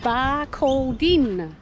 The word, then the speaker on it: Barcaldine: Ah, there, it's pronounced Barcaldine.